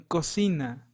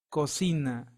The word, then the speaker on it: cocina: as in cup in Cocina Cocina means kitchen and the next C is followed by the vowel I so it sounds as in state cosina so letter D in